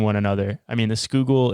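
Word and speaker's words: Schuylkill: Delaware River and the Skoal River I'm so proud of you for your pronunciation of that well well hey I'm going based off of how local philadelphians said it so I hope it's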